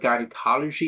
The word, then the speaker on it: gynecology: So here, the word gynecology usually pronounced with a hard G in the United States. So in America, this word called gynecology. But in the United Kingdom, it is called gynecology. In many areas, a soft G is used. Here, soft G means gynecology, which pertaining to the